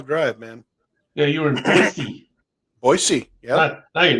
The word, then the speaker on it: Boise: Somebody did a song called It's Pronounced Boise, not Boise.